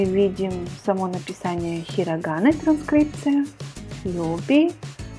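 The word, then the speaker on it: 曜日: Йоби. О будет долгое. О. Йоби.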